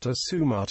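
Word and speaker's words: السموت: It originates from medieval Arabic al-sumat, pronounced asumat in Arabic, meaning the directions.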